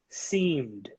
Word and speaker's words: seemed: Number 8, D sound, okay, guys? Seemed. Seemed.